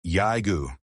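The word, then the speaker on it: Jäger: Said correctly, it comes out Yai-goo, and the name carried two problems at once. The J that every American reader got wrong, and the umlaut that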